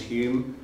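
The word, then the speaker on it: Home: Humes or Daniel Douglas Hume it is that's not a typo it is spelled h-o-m-e but the affectation is so they always pronounce that as Hume it was a Scottish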